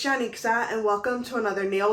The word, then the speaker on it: Janixa: i am very particular about how things are pronounced because of the name that i have my name is janixa and i'm sure you've never heard of that